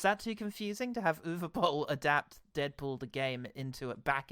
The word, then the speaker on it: Uwe Boll: Or Uwe Boll, sorry, I should use the correct pronunciation that we've subsequently learned.